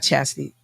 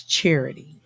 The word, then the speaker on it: Charity: sure uh so and it's not chassity it's charity are they saying it wrong